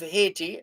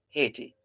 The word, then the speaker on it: Haiti: Now, the capital of Haiti, as we have shared before on this and other programs, the capital has long been anglicized.